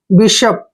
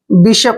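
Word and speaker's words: bishop: अलग तरीके से होगा यहां पर हमने बी आई को बाई पढ़ा है लेकिन यहां पर बी आई को हम बी पढ़ते हैं क्या पढ़ते हैं बी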